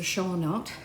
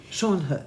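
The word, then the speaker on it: Schoenhut: a wooden doll up there that was a Shaunote. Shan Hut.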